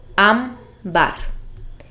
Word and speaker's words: ámbar: La palabra ámbar es también una palabra grave y tiene el acento en la sílaba am, ámbar.